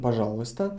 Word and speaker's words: пожалуйста: Written пожалуйста, pronounced пожалуйста. Пожалуйста. We're removing e and changing a to o, пожалуйста.